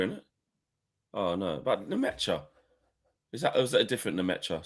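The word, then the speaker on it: Nmecha: Felix Nemecha, is how you say that, is another name that was floated by a well-connected German source.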